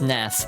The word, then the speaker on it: SNES: SNES is pronounced SNES. One word rhymes with bless.